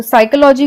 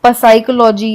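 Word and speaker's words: psychology: तो साइकोलॉजी को हम एस से पढ़ते हैं यानी साइकोलॉजी, लेकिन ये स्टार्ट होता है पी से। इसे हम पसाइकोलॉजी या फसाइकोलॉजी नहीं पढ़ेंगे, हम इसे साइकोलॉजी पढ़ते हैं।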